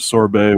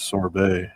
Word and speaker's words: sorbet: You pronounced the T and sherbet, but sorbet was always sorbet. It was never You never pronounced the T and sorbet for me.